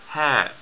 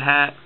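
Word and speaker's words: ه: h's we have so this is the light english style h and it looks like this hair just a circle the initial hat is like this okay middle hair like that and final hair like that sometimes at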